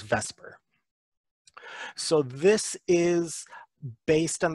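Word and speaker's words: VSEPR: or vscpr which is usually pronounced as vesper so this is based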